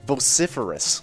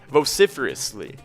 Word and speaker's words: vociferously: two touchdowns in nine seconds i got the pronunciation again it's vociferous vociferous vociferously yes vociferously that's awesome i'm totally going to